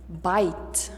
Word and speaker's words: bite: a letter i and we pronounce it i if there is the silent e at the end bite let's take a look